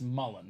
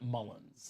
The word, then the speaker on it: Mullin: Dominique Wilkins and actually is Chris Mullen not Mullins I don't know who put the S on there but Chris Mullen so